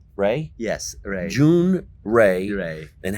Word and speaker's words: Jhun: Jun.